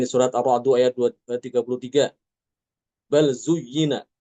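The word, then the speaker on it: بل زين: Bal zuyyina dibacanya baz zuyyina.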